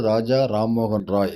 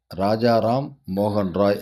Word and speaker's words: ராஜா ராம்மோகன் ராய்: இதை நிறைய பேர் வழக்கு ரீதியாக தவறாக உச்சரிப்பாங்க. அதாவது அவருடைய பெயரை ராஜாராம் மோகன் ராய் அப்படின்னு சொல்லுவாங்க. அது தவறான உச்சரிப்பு. சரியான உச்சரிப்பு அப்படிங்கிறது ராஜா ராம்மோகன் ராய் அப்படிங்கிறது தான்.